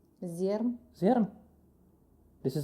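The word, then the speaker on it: Zjarr: Zer.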